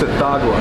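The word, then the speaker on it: Tsathoggua: multi-beers on the tap the sithagua Imperial Stout it's at dagua yeah yeah it's right and when you when you spell it then you have to try to pronounce it exactly that's definitely a fan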